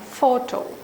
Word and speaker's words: photo: If you take photography, for photo, for a disyllabic word, stress is on the first syllable. But when it is a polysyllabic word, the stress changes.